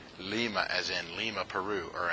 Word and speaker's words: Lima: But we don't call them lima. It's pronounced lima.